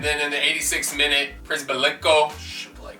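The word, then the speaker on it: Przybyłko: And then in the 86th minute, Przybylko. Shablyko, that's right.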